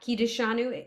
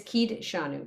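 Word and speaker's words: קידשנו: grew up doing so I'm not going to say it's not kiteshanu because you're going to hear people pronounce it different ways when they're singing They added extra syllable so um but it is kid shanu but you do you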